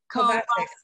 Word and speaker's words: Kovacic: a chance for Chuck Kovacic. How do you say that, Margie? You had it right the first time. Kovacic.